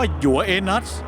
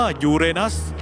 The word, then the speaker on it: ยูเรนัส: ฉัน เอง ยูเรนัส และ ไม่ อย่า อ่าน ว่า ยัว เอนัส มัน อ่าน ว่า ยูเรนัส มี ดาว เคราะ หลาย